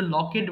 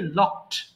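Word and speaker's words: locked: এটা অনেকে ভুল করে লকেট বলে ফেলে। হ্যাঁ, এটা কিন্তু লকেট হবে না, হবে কি লকড।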